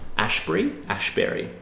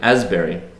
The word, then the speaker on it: Asbury: Ashbury? Actually, it's spelled Clay Asbury. Asbury.